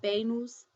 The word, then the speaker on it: venus: and if you'll notice, the letters B&V are pronounced exactly alike, so if I scroll down here to the V, which is uve, you still pronounces it as B That's venus (bay noose), vamos (bah mohs).